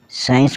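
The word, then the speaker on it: science: सीन सीन मतलब दृश्य एस आई एन सी साइंस मतलब विज्ञान एस सी I double S ओ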